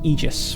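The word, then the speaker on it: Aegis: So, it's not it's not Aegus. I I learned recently is pronounced Eegis, which is not how I thought that word was was red, but okay.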